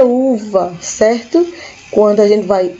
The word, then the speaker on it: uva: fruta pera e aqui UBA UBA a gente fala uma Lembrando que o ver na liga espanhola tem o som de bebê então Uba É uva certo quando a gente